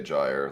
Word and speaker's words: gyre: I'll just do whatever I always say a gyre like yeah okay like liar yeah soft G sounds better to me yeah same yeah so